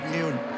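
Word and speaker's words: Nguyen: There's a few different pronunciations of the Vietnam, Vietnamese name. It's the most popular family name in Vietnam, I'm told. We looked it up, didn't we? And uh we decided new is the best way to say it.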